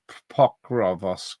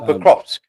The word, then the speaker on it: Pokrovsk: Pokrovsk, is it? Oh, Pokrovsk.